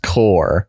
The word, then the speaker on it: corps: Pronounced core.